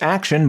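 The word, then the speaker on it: Akshen: face aka DJ action pronounced action but definitely not spelled that way AKA a face mob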